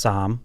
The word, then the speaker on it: Somm: Somm, and that's pronounced Sam.